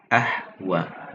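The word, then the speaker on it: أَهْوَىٰ: Kalau dalam bacaan riwayat Imam Hafiz an Asim itu kita membacanya wal mu'tafikata ahwa. Jadi dibacanya dengan fathah. Tapi kalau umpamanya dalam riwayat Imam Warsh itu dibacanya ahwe atau wattaqo itu menjadi wattaqi ya.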